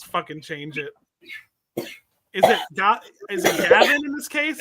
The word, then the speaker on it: Gawain: Is it Gavin in this case? I think it's Gawain. I've heard it pronounced Gawain. That's how my Middle English professor pronounced it, but then the movie pronounced it just Gawain.